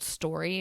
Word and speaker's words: Storey: I put it on, this one that I use is called Story. It's kind of spelled like STOREY.